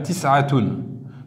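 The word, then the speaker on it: تسعة: On dira tis'a, c'est-à-dire tis'atun. On prononcera tis'a.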